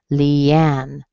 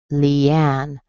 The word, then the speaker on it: Leanne: What it means is you're going to have a secondary stress in the beginning and a primary stress at the end. Leanne, Leanne.